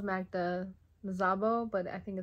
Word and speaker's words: Szabó: Yeah, it's spelled Magda Szabó, but I think it's pronounced Magda Szabó.